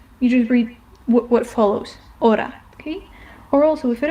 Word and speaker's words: hora: So the next one is an H in H in Spanish, and it is never pronounced. It does not have, you just ignore it. If you see it in the word, you ignore it. You don't pronounce it.